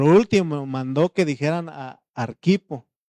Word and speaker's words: Arquipo: Y por último mandó que dijeran a Arquipo, no es Arquipo porque no lleva acento en la Arquipo.